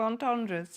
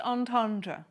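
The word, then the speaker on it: entendre: you read out double on Tundras oh grow up Ben actually um what is a double in tendra can someone fill me in it's pronounced on Tandra that's what I said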